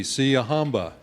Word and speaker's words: Siyahamba: And with apologies to any Zulu speakers out there, the pronunciation goes like this. Repeat after me. Siyahamba.